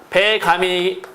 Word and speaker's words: 백암: 되는게 맞는데 그게 아니라 얘는 발음이 우리나라 표준발음 법이 따르는 거니까 배 감이 이렇게 발음이 됩니다 발음이 배 감이 되죠 그러니까 얘는 초성 욕이